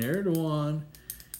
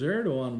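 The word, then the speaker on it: Erdoğan: the other way as Erdogan was making billions in shoe boxes. Check YouTube. Erdogan. Put it in. Erdojan. Erdogan. Right? But it's pronounced Doan. The G is silent.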